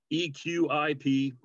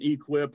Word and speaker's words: EQIP: the eqip program uh eqip we pronounce it equip millions of dollars spent